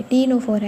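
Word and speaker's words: Ctenophora: टीनो फोरा एंड सस सी टीनो फोरा नहीं है वो सी साइलेंट है टीनो फोरा है वो और कानड मेटा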